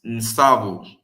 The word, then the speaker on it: Nsavu: In the Kikongo, it's Nsavu, because the N is silent.